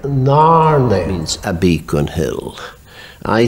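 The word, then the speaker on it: Narnain: But if N-A-R-N-A-I-N is one word, it must be pronounced in Gaelic Narne.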